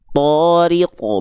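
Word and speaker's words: الطارق: Dibacanya tariqo, bukan ta, tapi terdengar seperti vokal O ketika berharokat baris atas.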